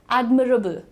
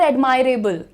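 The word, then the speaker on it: admirable: कैसे प्रोनाउंस करना है? एडममरेबल। एडममरेबल इट इज़ नॉट एडमायरेबल। एडमायरेबल कुछ होता ही नहीं है।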